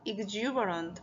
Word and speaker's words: exuberant: 발음 함께 따라해 볼까요 큰소리로 따라해 봐요 exu exuberant 발음이 좀 특이하죠 이로 시작되는데요 x고 읽으면 안 되고요라고